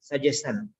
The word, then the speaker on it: suggestion: Son, you are saying suggestion. Okay. Information. Information. Suggestion. It's not son, it is a shan. Shan. Shan. Sha. Sha. Sha. Like she. Sha.